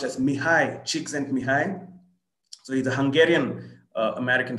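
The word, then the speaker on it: Mihaly Csikszentmihalyi: like and that's what uh that name is pronounced as mihai cheeks and mihai so he's a hungarian american psychologist so these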